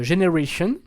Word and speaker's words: Gener8ion: mais c'est pas grave, de Generation, parce que ça s'écrit Gener8ion, c'est sur Bromance Records, et